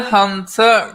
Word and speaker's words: Hunter: Linda Hunter rhymes with Shunter.